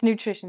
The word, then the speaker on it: nutrition: So it sounds like this, nutrition. Nutrition. No, it's nutrition.